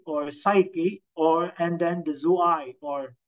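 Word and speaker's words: ζωή: The bios, and the soke or psyche, and then the zoe, or today we pronounce it zoe.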